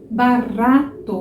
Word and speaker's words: barato: Você vai fazer essa vibração da língua uma vez só.